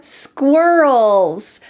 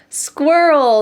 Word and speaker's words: squirrel: These are squirrels. Squirrel is an extremely tricky word for English learners to say. Can you say it with me? Squirrel, squirrel. The final sound is in your throat, -ul, -ul, squirrel.